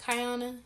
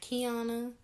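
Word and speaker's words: Kiyona: a and y together but like i said it's pronounced kyona not kiana no other way but the next question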